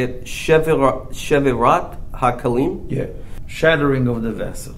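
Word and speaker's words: שבירת הכלים: Shevirat HaKalim? Yeah. Shattering of the vessel. Yes. Did I say it right? Shvirat HaKalim, yeah.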